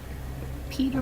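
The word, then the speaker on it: Peeta: called that in the german version i think pita bread yeah it's i think it's it is supposed to be a little nod to bread although pita bread is spelled p-i-t-a yeah but i i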